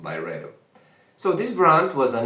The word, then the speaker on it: Byredo: I think it's pronounced by Redo.